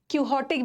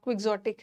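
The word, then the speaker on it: quixotic: क्विक्सोटिक, कई जगह पे इसका प्रोनाउंसिएशन क्यूहॉटिक भी मिलेगा, बट मेन प्रोनाउंसिएशन इसका क्विक्सोटिक है।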